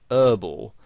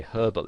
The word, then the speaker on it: herbal: word is pronounced now in american english the word herbal has the h silence so they pronounce it herbal now you might find somebody actually spells it that way herbal essences because that's how they would pronounce it whereas in british english you would pronounce the age and you'd say herbal essences and you might also